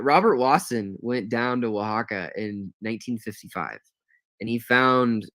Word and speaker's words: Oaxaca: um and specifically the usage coming out of Oaxaca in Mexico and Oaxaca is spelled o-a-x-a-c-a not how you think it would